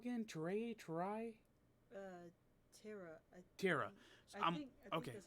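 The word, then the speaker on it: Tera: Terra. I So think okay. that's how you pronounce it.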